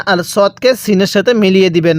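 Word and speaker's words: ص: রকম সদের মাখরাজ হলো জিহ্বার আগা সামনের নিচে দুই দাঁতের আগার সঙ্গে লাগাইয়া এই সদটা উচ্চারণ হবে সদ এরপরে দত এই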